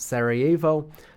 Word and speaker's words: Sarajevo: take other context clues into consideration it is pronounced Sarajevo uh and spelled thusly like Sarah jevo but